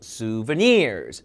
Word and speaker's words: souvenirs: 수버니어 아니고 souvenirs. souvenirs. 자, 노란색 칠해놓은 게 강세입니다.